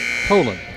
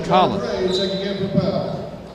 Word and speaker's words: Colin: Okay, they're pronouncing his name as Colin. Only one L. We were calling it Colan. It's Colin.